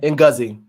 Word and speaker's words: Ngozi: Ngozi, is that how am I pronouncing it right? Ngozi.